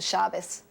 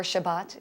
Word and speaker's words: Shabbat: Friday night, we celebrate the Shabbos, or Shabbat, if you want the alternate pronunciation, which is the Jewish Sabbath.